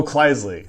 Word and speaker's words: Kleisli: Oh, Kleisli. Sorry. Kleisli? I always called it Khaleesi. Kleisli? That's what I've heard.